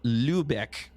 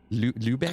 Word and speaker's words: Lübeck: L-U-Beck. Lubeck. We'll go with that. It's L-U-B-E-C-K, but it's got that little, what's a... Umlaut. Yeah, umlaut. Yeah, so it means Umlaut. they use a long U.